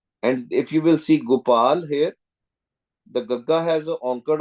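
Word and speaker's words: ਗੋਪਾਲ: Whenever you see this with the hoda and anker only pronounce gopal pronounce with with the word with the matra of anker toti gandahar gopal gopal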